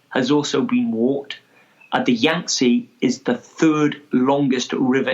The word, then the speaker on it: Yangtze: Is it the Yangtze River? Is that how I pronounce it? Yangtze. Terrible. That's it. Yeah. Yangtze.